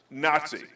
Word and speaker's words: NATSI: It will be appropriately pronounced NATSI.